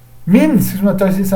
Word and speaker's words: من: Min, si je m'intéresse ici, c'est un harf jar. Donc min, à la base, il y a un soukoun. C'est pas mina, à la base.